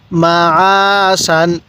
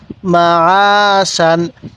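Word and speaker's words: مَعَاشًا: মুতা এরকম ভাবে পড়বো এরপরে মিম জবর মা আইন আলিফ জবর আ সিন আলিফ দুই জবর শান মাশান আইনটা উচ্চারণের সময় গলার মধ্যে হালকা চাপ দিলে আইনটা সহি উচ্চারণ হবে তাহলে মাশান কিভাবে শিখবো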